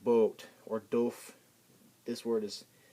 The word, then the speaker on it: Boot: can think of this some people think this is a boot but a boot Isel in German that's boat it's pronounced boat or do this word